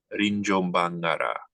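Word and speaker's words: Rinjobangara: Now in the English, it's going to spell that place name as R-I-N-J-O-B-A-N-G-A-R-A, Rinjombangara.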